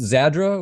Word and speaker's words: Zadra: I got to clear that up is it pronounced zadra or it is thanks for asking I was